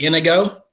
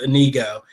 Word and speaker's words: Inigo: So the reason I say that is because a lot of people, when they mention the name, they normally say Inigo, but it's actually pronounced Inigo.